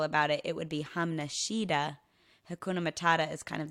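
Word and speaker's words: Hamna shida: what they're talking about the correct way to say this is hum Nishida so if someone hakuna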